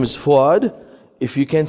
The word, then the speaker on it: Fouad: She doesn't call me Fouad because she can't say my name. So don't call me Honey. That's because she's my wife. Just call me or Fouad. Can we say Fouad? Let's try. Fouad.